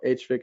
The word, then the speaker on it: HVAC: okay uh another comment you pronounce HVAC correctly sometimes each letter set or HVAC as you did we often say PV pwm for pulls with modulation 2.